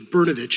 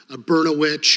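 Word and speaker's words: Brnovich: grade that I realized my name was berovic and not beroit or brosaurus vit or any other words that rhyme with that and that's just what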